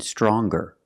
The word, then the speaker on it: stronger: strong to younger and stronger? Or the youngest, the strongest. When we change these adjectives with ER or with EST, we're going to pronounce the G sound, the hard G.